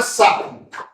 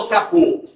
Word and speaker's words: sapo: Essa palavra aqui, ó, você fala sapo ou sapô? Sapo. Então, qual que é o acento? Qual que é a sílaba forte? Sap. Sap. Ela é uma paroxítona terminada em o, correto?